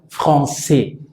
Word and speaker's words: français: Porque hay una S final que no suena, AI que suena E, la CCD que suena como una S, la R que es gutural, la sílaba tónica es la última, entonces français, français, Beaujolais.